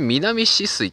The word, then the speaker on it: 南酒々井: これで南止水と読むんですね。